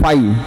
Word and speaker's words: phi: इसको शॉर्ट में बोलते हैं फाई, क्या बोलते हैं बच्चे, फाई, PHI, फाई, ठीक है, प्रोनाउंस करते हैं इसको।